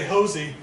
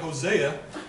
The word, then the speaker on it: Halsey: So he schooled me on the right way to say Halsey, because I was saying it in the biblical sense, and I was saying Hosea, and he said, Halsey.